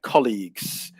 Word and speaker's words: colleague: first syllable stress yeah colleagues um which is the difference between colleagues and a place where you study um which is yeah college but the stress is always on the first syllable colleagues um and there